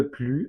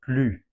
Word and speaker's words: plus: Attention, on ne prononce pas le S de plus.